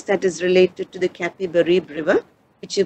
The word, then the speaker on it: Capibaribe: That's another place that is related to the Capibaribe River, which you pronounce it as Recife or Recife.